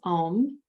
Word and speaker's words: om: before the word is om so it's a I should do it this way a u m silence the fourth syllable is silent so it's a u m silence when you're saying the